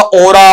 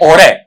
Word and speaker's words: Aura: एक्चुअल में ये word आप गलत बोलते हैं, इसका उच्चारण है ओरे, ओरा नहीं बनता है बेटा, क्या बनेगा, और है। ये आ की बजाय लास्ट में ए का साउंड देगा, इस तरीके से ओ